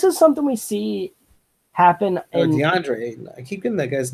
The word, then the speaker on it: DeAndre Ayton: You're playing behind Dante Ayton. Like, you don't have any time to play. Like, I'm out. And this is something we see happen. DeAndre Ayton.